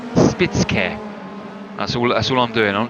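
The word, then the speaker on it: Spitzkehre: Spitzkehr, which is actually Spitz curve if you're from the south of England like I am and talk like this. But I think in German it's actually Spitzkehr.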